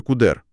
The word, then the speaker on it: cdr: Car, а CDR пара читається кудер другу.